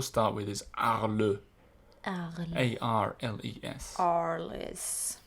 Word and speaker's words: Arles: A-R-L-E-S. Arles. Imagine Arnold Schwarzenegger saying, I'll be back, and you can pronounce it.